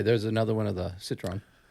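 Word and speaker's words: Citroën: another one of the Citron am I saying it right Citron Citron I say Citron but whatever catron Citron depends if you're American yeah so this is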